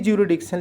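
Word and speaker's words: jurisdiction: वहां पर जरिडिक्शन है तो जरिडिक्शन में बोलिए जरिडिक्शन लेकिन लिखते वक्त जरिस फ्रीडिक्शन लिखिएगा एस लिखिएगा तभी होगात्राधिकार या अधिकार क्षेत्र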